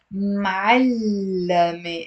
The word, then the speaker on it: معلمة: If you want to change it into feminine, of course you can add the te marbuta and it becomes معلمة. It's 3 syllables, not 2 syllables.